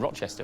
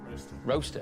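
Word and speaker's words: Rocester: most successful engineering companies I said Rochester but it's not Rochester it's um how do you say oh yeah roster roaster yeah you say roaster y 22ft factories across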